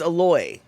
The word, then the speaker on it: aloe: But we didn't call it aloe. It was aloe. That's how you said it. Aloe is how you say it in Hawaii, right?